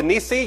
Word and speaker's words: Nissi: Obviously, this one is Jehovah Nissi. You can pronounce it nice, however you want to pronounce it.